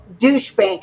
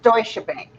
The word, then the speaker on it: Deutsche Bank: for pronunciation you know it's not pronounced douchebag it's pronounced deutsche bank i call it douchebag